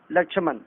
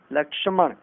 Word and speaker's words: लक्ष्मण: लक्ष्मण नहीं, लक्ष्मण।